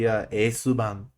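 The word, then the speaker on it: エースバーン: Just like when I get a bunny, I'm probably gonna name it like Aceburn or the Japanese pronunciation of it. The pronunciation should be Esuban.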